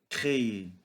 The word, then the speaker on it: créer: Quatrièmement, créer. Créer, c'est fabriquer. Regardons maintenant à la fin de ce mot, ce verbe. ER. ER se prononce et, comme manger, chanter, rester, etc.